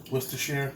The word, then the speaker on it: Worcestershire: I know I pronounced this wrong. Worcestershire.